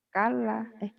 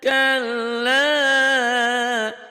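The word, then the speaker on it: كَلَّا: Tahu salahnya di mana? Kala. Ya, Ya. tadi tasjidnya kurang nyambar Mbak Puji tadi. Kala. Kal. Kalla saya'lamun. Harus pede ya bacanya ya, jangan ketakutan.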